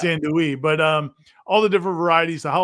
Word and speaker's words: andouille: me how andouille is really supposed to be pronounced, and I was like, Sean, it's part of the show now. Yeah. It's andouille, but all the different varieties, the jalapeno cheddar, which is a classic.